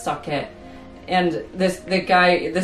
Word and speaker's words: sake: spelled k and like in Japanese we pronounce sake and this the guy